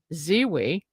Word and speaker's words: Zewe: And our first guest is Fred Zewe. Did I pronounce that right, Fred?